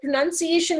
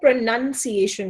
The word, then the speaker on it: pronunciation: The entire movie was shot in Canada, was about Canada, and was about Canada's impact on India, but pronunciation was mispronounced.